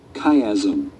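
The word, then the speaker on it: chiasm: the km chm how do you say km kaym okay after leaving the kaym the fibers form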